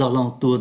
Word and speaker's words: alentours: Aux alentours de, ở đây chúng ta đọc là âm mũi này. Aux alentours, âm mũi, Mont Saint-Michel, âm mũi.